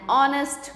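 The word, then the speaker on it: honest: हैं words as एन ऑनेस्ट मैन अब देखिए एच में ह का साउंड नहीं आ रहा है क्या साउंड आ रहा है ऑनेस्ट ओ का साउंड आ रहा है तो ओ वावल होता है तो जहां एच साइलेंटली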